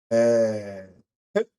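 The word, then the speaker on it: בית: 그래서 베트 또는 배트라고 읽고 어바이트라고 하는 단어의에 앞 첫 번째 단어가 아 베트라고 하는 자음입니다.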